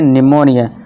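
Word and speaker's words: pneumonia: यदि पी के बाद एस हो या फिर एन हो तो हमारा क्या होता है? पी साइलेंट होता है। पी के बाद एन है तो इसे क्या पढ़ेंगे? निमोनिया।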